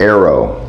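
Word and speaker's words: Airoh: by an Italian company called Arrow it's spelled funny it's a i r o h the Aero helmet was displayed at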